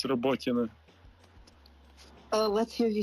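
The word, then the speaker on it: Роботине: Robotina. Thank you. I hope that the people understood, but it's Robotina.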